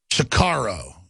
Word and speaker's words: Sicario: Sicario, that's how you pronounce it, yeah.